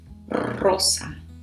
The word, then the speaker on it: rosa: Pink is rosa. Rosa. So again, that strong R at the beginning, and this one does not have a different version for masculine or feminine, so simply rosa.